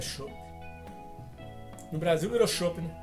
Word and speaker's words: Schoppen: A pronúncia não é chopp não, é tipo chopper, é uma caneca de 500ml, entendeu?